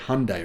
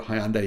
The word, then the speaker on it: Hyundai: has ever made or as you guys in America call it Hyundai right you call it Hyundai sorry we call it Hyundai here in Australia so I'm just going